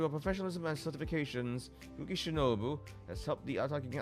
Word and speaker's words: Shinobu: I think I've legit just been repeating Kuki Shindo this whole time as opposed to Shinobu.